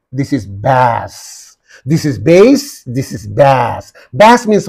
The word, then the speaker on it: bass: the the next one that's a base Bas lowest fale singing voice is called Bas uh something that comes from the from the bottom of the throat soar how do you say oh so that comes from the bottom of your throat that is called base base see the foric transcription base okay here same spelling